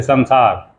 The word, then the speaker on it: संसार: जैसे संसार, तो हम स न सार कह देते हैं, स न सार, संसार में संसार, म संस्कृत म।